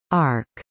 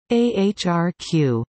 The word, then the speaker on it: AHRQ: The Agency for Healthcare Research and Quality, AHRQ, pronounced ARC by initiates and often AHRQ by the public, is one of 12 agencies within the United States Department of Health and Human Services, HHS.